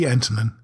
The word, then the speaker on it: Antonen: Is Antonen correctly pronounced, by the way? That is right. That's the American pronunciation.